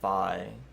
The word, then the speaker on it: Fi: Uh, I personally pronounce it fee, but you can pronounce it however you want. The Japanese version, it's pronounced fi for sure.